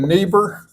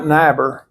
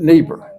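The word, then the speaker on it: Niebuhr: remember in the German when you got a double vowel you pronounce the second one like the Theologian neber you pronounce it not naber you pronounce it neber and so n not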